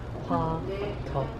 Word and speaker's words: 화덕: Callie, how do you pronounce the name? 화덕.